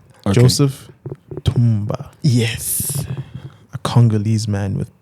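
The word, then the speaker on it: Ntumba: name though that's oh Joseph TBA TBA n t u MBA you don't pronounce the n n is a silent silent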